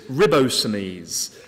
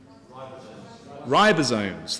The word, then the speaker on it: ribosomes: it actually makes and I'm going to probably pronounce this wrong so forgive migrants ribs ribbo Sinise which you can see are down here how do you how do you say it ribosomes thank you for your help you might need